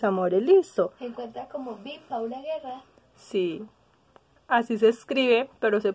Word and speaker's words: Paula Guerra: estoy miren mis amores listos en cuenta como pau la guerra así se escribe pero se pronuncia by paula guerra ay